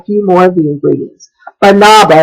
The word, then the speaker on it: Banaba: Banaba, and I might not be saying that. It looks more like banana to me, but it's spelled B-A-N-A-B-A.